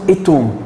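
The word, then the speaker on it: إيتوم: لسه معرفينه اول المحاضره، اتوم او للدقه هو اسمه ايتوم.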